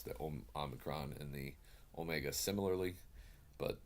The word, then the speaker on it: Omicron: gonna argue with anybody if they want to pronounce the Omicron and the Omega similarly but that's just my